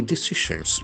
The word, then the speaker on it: decision: Role in key decisions. DECISION. So that is very important noun. decision. There are Two syllables. Decision. Decision. The accent falls on the second syllable.